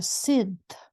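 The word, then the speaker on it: Sídhe: race in Celtic mythology spelled Sith by the Scots but pronounced the same comparable to fairies or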